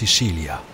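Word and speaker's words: Sicilia: sur l'île de Sicile en italien on prononce siilia c'est la plus grande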